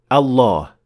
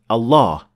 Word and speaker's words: الله: lam, which means that the two lams now are assimilated into one full mouth lam, which is then the word Allah.